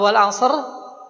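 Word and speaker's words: والعصر: Ya, kalau wal asr itu ee dia karena sebelumnya huruf istilah shad ya, maka bacanya bukan wal asr.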